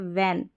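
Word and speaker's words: when: वेन व करके आप डब्लू एच को प्रोनाउंस कर सकते हैं या वह करके अब एनजी है ना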